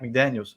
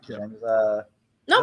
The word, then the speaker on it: McDaniel: the head coach, Mike McDaniels. Yeah. No, not McDaniels. Mike McDaniels, our coach, Mike McDaniel.